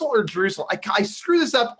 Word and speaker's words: Drussel: today's guest Mr Aaron drussel and I always say it wrong is it drussel or drussel I I screw this up all the time it just rhymes with muscle Ah that's how I